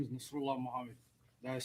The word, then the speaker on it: Nasrulah Mohamed: My name is Nasrullah Mohammed. That is spelled NASRULAH MOHAMED.